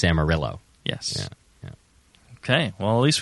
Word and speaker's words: Amarillo: going nuts he's like if I have to hear one more person say amario I want to go nuts because it's not actually a Spanish you know name it's it's Amarillo yes okay well at